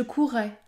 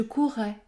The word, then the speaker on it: courrais: je courais je courrais cette consonne qui est prononcée plus fortement s'appelle également la consonne géminée dans cette vidéo je